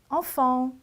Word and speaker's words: enfant: 3번째 enfant. 자, enfant 마찬가지로 T 끝 자음이기 때문에 발음을 하지 않아요. 그래서 enfant까지만 읽어주시면 되세요.